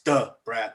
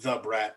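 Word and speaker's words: Da Brat: i think and yeah you got to say it right it's duh brad not the brat like some white people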